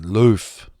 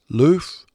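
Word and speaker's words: Lugh: of this stuff man lof l u g h who was skilled in all the arts one day lof I think that's how you say it assured victory to the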